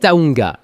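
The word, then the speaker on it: Tujunga: Règle numéro 2, apprenez la bonne prononciation de certains noms de rue. C'est Taunga, Koanga, Figueroa, Sepoulveda, Wilshire, pas Wilshire et Doeni.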